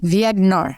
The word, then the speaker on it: Viognier: can pronounce this correctly, Viognier. I believe that is the way it is pronounced. It's a French pronunciation, and I may have it slightly off.